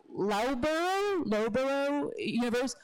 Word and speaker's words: Loughborough: Cities Network, and it comes from, I might mispronounce it because I read it, but I don't know how to say it. It's Loughborough University, and that's in the UK, and I